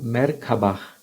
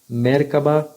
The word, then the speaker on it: Merkaba: em outras culturas como merkabah mercaba merkava existem diversas pronúncias mas geralmente a pronunciamos como se as três sílabas fossem separadas com tonicidade igual em cada uma delas mer refere-se a um